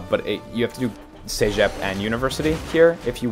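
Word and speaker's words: CEGEP: takes 3 to 5 minutes okay I see sep which is spelled I'll spell it in the chat uh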